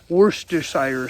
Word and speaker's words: Worcestershire: and some Worcester sauce, or Worcestershire sauce, which I can't pronounce, but my friends on the East Coast have told me just call it Worcester sauce and I'll sound like a local.